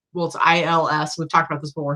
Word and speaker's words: Ils: I think it's ILS.